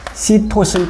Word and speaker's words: 시토신: 티민, 구아닌, 그 다음에 시토신 또는 사이토신이라고 발음하죠.